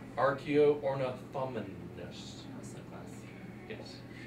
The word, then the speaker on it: Archaeornithomimus: It's pronounced Archaeornithomimus.